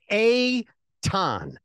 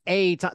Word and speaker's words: Eytan: So it's Eytan, right? Like it's like saying hey ton, but you don't say the H, and it's Eytan. The problem is that when people see it, it's spelled Eytan, and so they say Eytan, right?